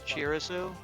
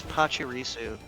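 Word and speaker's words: Pachirisu: Am I worried about probably you pronounce it chirisu? Yeah. It's pirisu.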